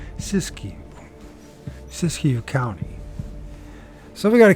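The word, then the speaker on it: Siskiyou: Sis Sis siskou County I don't even know how to pronounce it let's find if you could pronounce it whatever happened English sisu I did say it right he be damn I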